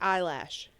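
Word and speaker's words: Eilish: I said it first you didn't even say it right I'm giv it I said Billy she didn't say right Billy eyelash Billy eyelash ill ilish she's ill you know her uh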